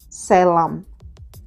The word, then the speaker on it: Sailom: จ้ า ลู ก Salem That's how you pronounce that His name's Salem I have to remember that by thinking about sailor Like a sailor Or like a sailor